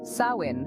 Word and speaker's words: Samhain: that the Irish New Year festival of Samhain, pronounced Samhain, was born, says archaeologist and Rathcroghan expert Daniel Curley.